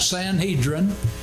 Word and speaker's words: Sanhedrin: presided over the Sanhedrin and the sanadrin was composed of priests scribes and heads of families and your Bible probably marks that Sanhedrin and with a long e and that's quite fine we're talking about the